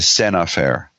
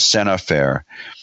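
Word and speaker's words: scènes à faire: something called the the sin affair sin affair is it's it's spelled scenes as Enes than the word then the letter a then fair FAI re it's called Sena fair and the and the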